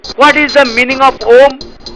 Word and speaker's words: Om: What is the meaning of Om? Om or Om, pronounced H-U-U-M-M, is a sacred sound considered